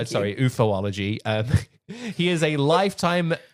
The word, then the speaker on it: ufology: Uh, do you mean uology? Uh, uhology. Yeah. Pronounce it correctly. Thank you. Sorry. Ufology.